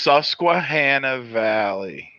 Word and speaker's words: Susquehanna Valley: Okay, we need the name first of all, because I can't pronounce it. Okay. It's Susquehanna Valley.